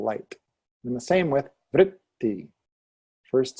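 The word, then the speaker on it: वृत्ति: And the same with vritti. First syllable strong, second syllable light.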